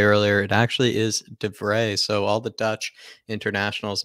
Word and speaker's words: de Vrij: vray which i just look up how to pronounce correctly this time i was saying devry earlier it actually is defray so all the dutch internationals maybe anybody that